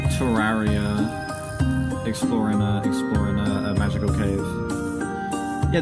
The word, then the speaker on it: Terraria: I'm not pronouncing it Terraria. It's Terraria. That was honestly my favorite so far, despite the fact that I don't entirely agree with the title. That was my favorite so far. I would give that an 8.6, I think. That was, the last syllable is also A.